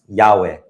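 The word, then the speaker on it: Yahweh: linguistic argument to how the vowels are actually u the short a vowel and the uh the short air a vowel such that the name becomes yahe or yave however you want to pronounce the vow right um however personally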